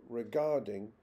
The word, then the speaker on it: regarding: not change for example regarding is always stressed on the second syllable primary stress in English